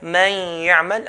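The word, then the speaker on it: من يعمل: Now if you notice, when I say there, man ya'mal, I'm saying there with the ghunna of the nun. So man, that sound, that's called the ghunna sound. So I'm saying the sound from the nose and I'm pronouncing the ya from the mouth. So two types of sounds are happening at the same time.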